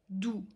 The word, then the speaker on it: du: déjà retrouvé par exemple dans le petit mot doux qui veut dire tu alors le but en allemand il se prononce comme un os et 1 us en français donc ou doux fao alors levé en allemand il se prononce